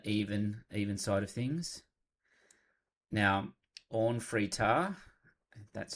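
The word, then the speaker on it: Orn Free Taa: Now, Orn Fritar, that's how you say it, is a different take on the art than we've seen so far.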